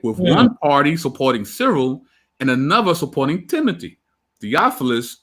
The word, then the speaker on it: Cyril: been training his nephew, I don't know how you say his name, Cyril? Is it Cyril, Adam? Is that how you say his name? Yeah, that's how I've heard it. Cyril.